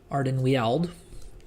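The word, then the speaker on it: Ardenweald: over to ardan weld ardan weld is is how I prefer to pronounce it if it's if if it's all the same to to everyone and we got to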